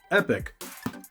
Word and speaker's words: Epoch: epic game controller yes some people will pronounce that differently but as far as I know that is pronounced epic for this uh controller now this is slightly